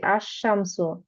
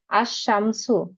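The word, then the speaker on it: الشمس: এখানে একটু খেয়াল করেন এখানে কিন্তু উচ্চারণ আমরা কিভাবে করছি আশশামসু আলিফের সাথেশিমকে ধরে নিচ্ছি লামকে বাদ দিচ্ছি আশশামসু আবার এখানে হচ্ছে আস সদরু মানেযে চেস্ট চেস্ট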